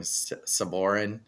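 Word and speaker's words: Sabourin: Saborin?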